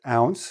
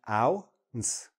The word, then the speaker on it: ounce: It's ounce. That's what it looks like open. Pronounced ounce.